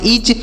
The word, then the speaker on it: itch: ITCH, तो आई से पढ़ेंगे ई, और TCH से पढ़ेंगे च। यहाँ पर टी साइलेंट है, CH से च पढ़ेंगे। तो इसे पढ़ेंगे ईच।